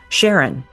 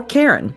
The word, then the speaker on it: Charon: modeling on the formation of Pluto's largest moon, Charon, or Karen, depending on how you like to pronounce it.